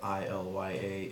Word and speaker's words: Ilya: start an episode, I love you always, because it's spelled I-L-Y-A, Ilya.